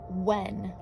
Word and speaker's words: when: This is the word when. It actually has a silly silent H in it. W-H-E-N.